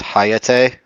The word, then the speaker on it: Hayate: The pronunciation shows it as ha and then ya like the beginning of yatsi and then t e h. So hayate.